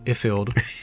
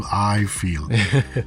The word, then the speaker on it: Ifield: A lot of people say Ifield, which doesn't make sense to me because like it is Ifield. Exactly. Pronounced like iPhone.